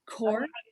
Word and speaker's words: coir: more time stacy vermiculite coconut c-o-i-r yeah core is generally how your people pronounce it uh mixed compost including